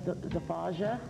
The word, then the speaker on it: Zafaja: I'd like to introduce Joseph Alan Fears with the band Zafaja. Yeah, that's correct. Okay. That's how it's pronounced.